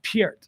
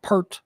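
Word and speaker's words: Neil Peart: hate YouTube um he he once said that it's actually pronounced Pier Pier like Pier people call him per whatever Port Port Neil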